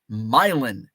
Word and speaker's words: Milan: is Marseilles um oh we have a Milan which is the Quad Cities area but it's myelin we pronounce it Milan um let's see that